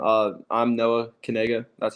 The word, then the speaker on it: Knigga: how you pronounce my name uh I'm Noah kega that's how you pronounce my name so Noah kega that'sa yep